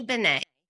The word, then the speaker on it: Benne: Benet.